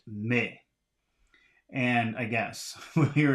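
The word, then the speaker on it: mais: consonants are not pronounced the first word is m-a-i-s so that should be pronounced me and I guess we'll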